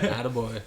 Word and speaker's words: Atta Boy: Did I pronounce it correctly? With my French accent? Yeah. Atta Boy.